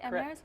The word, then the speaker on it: Amneris: Mezzo-soprano Michelle DeYoung, I should say it better than that, plays Amneris, right? Am I saying it right? Amneris?